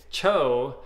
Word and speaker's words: TCHO: and it's the first it's the pronunciation of the first three letters of chocolate cho so i did a